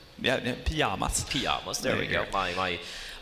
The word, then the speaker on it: Pyjamas: Pyjamas is how to pronounce it in Sweden. Yeah, Pyjamas.